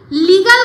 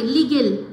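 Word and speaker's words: legal: ঠিকমত বলতে পারে না এটাকে লিগাল না বলে লিগেল লিগেল লিগেল বলে কোন কথাই নেই লিগেল উচ্চারণ করলে তার বানানটাই চেঞ্জ হয়ে যাবে এই চোপা বদদি আর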